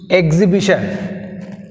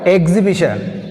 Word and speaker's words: exhibition: Next 43, exhibition. What is the word? Exhibition. In exhibition, which is silent? H is silent. Exhibition, H is silent.